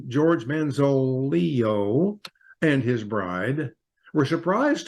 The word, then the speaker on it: Manzolillo: George Manzolillo, that double L is pronounced like a Y. George Manzolillo and his bride were surprised to learn that their marriage carried an unexpected price tag.